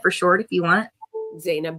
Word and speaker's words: Zeynab: Zanab. But how you pronounce it is Zanib.